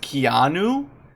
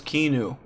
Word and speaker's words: Keanu: in his life wait it's pronounced Keanu I thought it was kenu this whole time